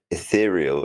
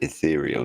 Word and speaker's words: ethereal: Ethereal is pronounced ethereal, not ethereal.